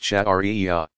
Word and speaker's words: Sharia: The outcome of all this study and interpretation is called Sharia, pronounced Shari'ah.